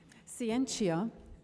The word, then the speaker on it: Scientia: issues of our time is constitutional law expert, Scientia, is that how you pronounce it? No, tell me, I need to get these things right. Oh, Scientia, that sounds Latin.